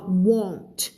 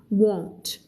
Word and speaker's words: won't: want มันจะมีเสียง n แล้วเป็นเสียง on want I want แต่อันนี้จะออกเสียงว่า won't เสียงมันจะกลมกว่า won't โอเคแต่ว่ามี t ทั้งสองคำนะ The paratroopers won't arrive until after midnight Mr.